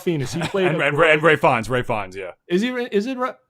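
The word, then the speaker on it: Ralph Fiennes: he's playing grey fonts ray finds yeah is he is it it's pronounced ray fines and it's just not what it looks like at all when it's written down i don't know why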